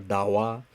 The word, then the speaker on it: Dawa: So this case, you don't pronounce like a Daba Sangmo or Dawa Tsering. You always pronounce Dawa Tsering, Dawa Sangmo.